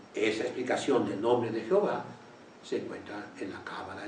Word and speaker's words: Jehová: sí quién lo dice lo dice un rabino que ha estudiado mucho y tiene una explicación lógica gramaticalmente correcta yji jové ha Jehová Jehová Jehová es correcto y así está en